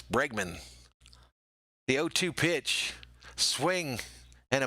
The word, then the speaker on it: Bregman: snazzy next pitch to bergman another strike so bergman now is in an 0-2 hole i say his name wrong all the time it's bregman the o2 pitch swing